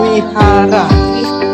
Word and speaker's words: vihara: Ini kedua bisa dilihat ini vihara. Wihara. Bukannya V bacanya W.